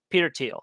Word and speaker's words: Peter Thiel: Peter Thiel. Okay. Yeah, that's how you pronounce it.